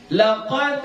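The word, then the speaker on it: لَقَدْ: Contoh, laqad khalaqnal insana fi ahsani taqwim. Jadi laqad itu qalqalahnya kubra. Kenapa kubra? Karena dia di ujung.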